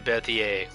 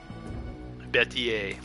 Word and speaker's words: Berthier: That's how it's pronounced, too, is the Berthier. Berthier. It's very French.